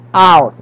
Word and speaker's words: cout: Piga pronounce yan. Cout.